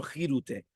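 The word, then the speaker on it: כרעותה: That is the regular rule for the first letter of a word. Many people, however, pronounce it with a chaf. There is basis to justify their pronunciation as well.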